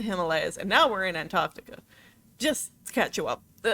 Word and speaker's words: Antarctica: That's not how you pronounce it. It's Antarctica. I can forget about that. You can pronounce the T's. It's not Antarctica, it's Antarctica. Anyway, building the station probably cost a lot of money.